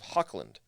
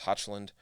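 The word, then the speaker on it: Hochland: the province of hawkland which i assume is how you pronounce that i don't think it's hotchland um i've seen a lot especially in the the british pronunciation of things when the ch in the middle of the word like that is typically sounds like a k uh if anybody knows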